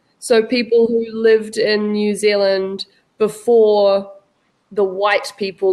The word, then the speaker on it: New Zealand: Australia to the right hand side okay the pronunciation is New Zealand New Zealand that's it okay and the people in New